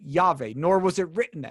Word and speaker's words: Yahweh: because no Hebrew ever pronounced God's name Ehya, which is I am, or in your footnote, which I think is better, I will be. Okay, they pronounced it Yahweh, nor was it written.